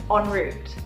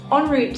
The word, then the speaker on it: en route: word or phrase is enroute this is originally a French word and that's why it's spelt a little bit differently you have pronounce slightly differently and this just simply